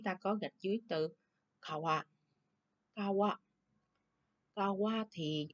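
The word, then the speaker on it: 川: Rồi, tiếp theo số 3, chữ này là chữ xuyên, đọc là kawa, đúng ha, xuyên là sông.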